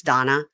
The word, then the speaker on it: Dana: Daily Dose of Donna. You guys, it's spelled Dana like Dana, but it's Donna.